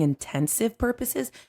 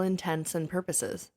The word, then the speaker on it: intents and purposes: and they said it and they said intens and purposes and I was like are they saying intensive purposes and then I kept saying it cuz I couldn't figure out how to say it for all intents and purposes for all all intentions